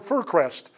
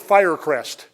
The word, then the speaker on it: Fircrest: they called him because they mispronounced the word Furrest over the they called it Firerest.